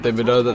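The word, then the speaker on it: Thibodeaux: Imagine they go Kayvon Thibodeau. That'd be crazy. Yeah. That's how you pronounce his last name?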